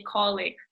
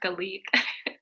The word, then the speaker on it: colleague: know that it's it's better to say colleague not Khalid we have subscribers who